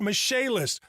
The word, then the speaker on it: Michaelis: i c h a e l i s pronounced mache list call 844 fix indy that's 844 fix indy